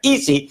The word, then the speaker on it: ISI: Charles River Laboratories, el analista del banco Evercore IC, Evercore ISI, que es como se pronuncia, Easy, hizo un cambio de